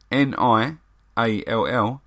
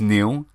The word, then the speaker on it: Niall: to spell Neil so my name is Neil people pronounce it Niall because that's how it reads really I was christened